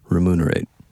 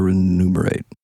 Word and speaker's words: remunerate: so it can either Delight or Ren numerate remunerate remunerate whatever it is I know the word I don't need how need to know how to say it remunerate repeat after me remunerate remunerate remunerate you sure how often